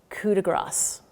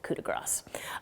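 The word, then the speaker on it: coup de grâce: The first thing I want to say is a pronunciation thing. There is an expression, coup de grace.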